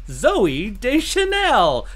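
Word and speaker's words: Zooey Deschanel: i say her name i have to say it zoe de chanelle because that's not to say it just like weird al says it exactly does weird l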